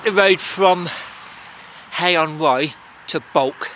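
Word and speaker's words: Bwlch: I took the road from Hay-on-Wye to Bulk. It's the place it looks on a map like it's spelt Wiltsh.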